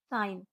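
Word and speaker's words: sign: का दूसरा रूल है जब जी के बाद एन आए तो जी साइलेंट होती है जैसे एस आई जी एन साइन ए एल आई जी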